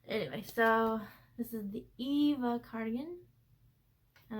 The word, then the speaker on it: Eva: so this is the eva cardigan and i have to say eva like wally so i remember to say it correctly um this is by